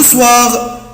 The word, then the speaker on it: soir: Le soir, je dessine et je fais de la peinture. طبعا الجملة سهلة جدا. Le soir في المساء. Le soir في المساء. soir يعني بالليل، واتفقنا حبايبي الاو اي بنطقها وا.